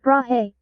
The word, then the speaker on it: Brahe: That's pronounced Brahe, bub, and that model on the picture was debunked ages ago.